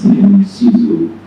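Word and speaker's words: Cixous: I never heard anybody pronounce Sizu. I read and were very hard. I never heard somebody. So of course I gave a very funny and very, of course, absent pronunciation. And Salim corrected me. He said that that's Sizu.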